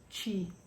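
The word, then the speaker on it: Twi: Sorry, it's spelled TB T I W I, but it's pronounced chi.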